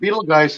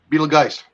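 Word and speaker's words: Betelgeuse: um they're saying that beetlejuice is about ready to go supernova which is one of the um jews or beetle guys beetle guys is actually how it's actually pronounced okay even if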